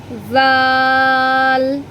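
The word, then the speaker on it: ظ: আরবি 29টি হরফের মধ্যে 3টি হরফ উচ্চারণ করার সময় জিহ্বাটা সামান্য একটু বেরিয়ে আসবে, সেটা হচ্ছে সা, জাল আর হচ্ছে জো, আইন।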